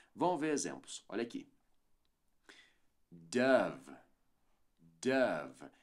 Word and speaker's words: Dove: ver exemplos olha aqui Dove Dove aqui é o som do a no o tá Dove e eu